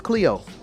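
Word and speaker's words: Clio: then we got cleo who all remember mrs cleo but this is spelled c-l-i-o cleo is the muse of history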